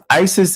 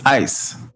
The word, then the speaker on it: ICE: We got to be very clear on when we say these words like ISIS. ISIS is not what they're called. It's ICE.